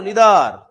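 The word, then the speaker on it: neither: क्या होगा, each, every, आइदर, या उसे इधर पढ़ते हैं जल्दी, आइदर नहीं इधर, और नाइदर को निदर।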